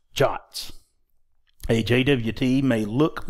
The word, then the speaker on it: JWT: web token or JWT JWT s are sometimes pronounced shots a JWT may look